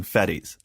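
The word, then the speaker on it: Fettes: When I looked up the name, I actually searched, how do you pronounce this name? And most people said Fetz, kind of like Boba Fett, so that's what we went with, but I guess it could be Fetties as well. Right.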